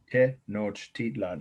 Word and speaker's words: Tenochtitlan: Okay, I'll spell that long multisyllabic word. Tenochtitlan. Tenochtitlan. I was coached in that by someone from indigenous culture, who was in my classes before the shutdown in Petaluma campus.